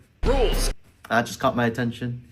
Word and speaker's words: Rouxls: so, he like says rolls when he refers to rules, but it's pronounced like rolls, which is set up for the rhyme for souls, but that's not how the name is said.